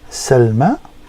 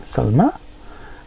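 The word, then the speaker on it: سلمى: beginning or middle and it is a y pronounced as an A okay and it's commonly used for proper nouns such as names so here first one we got Salma which is the name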